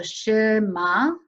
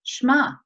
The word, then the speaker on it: Shema: way israelis do it kids might go shi ma that does sound like two syllables in english but it's shema it's one syllable as we play